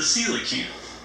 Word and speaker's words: coelacanth: that right and be it's spelled co e l a CA n ph which is a you know not how you would think it might be so now or Canasta